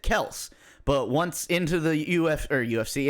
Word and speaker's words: Kelce: Travis Kelce, their last name is Kels. Wow. They, as a family, pronounce it Kels. But once into the UFC, into the NFL, people were calling Kelce.